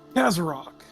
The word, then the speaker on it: Kazarok: The adventurer that put him in here, I believe it was Kazarok.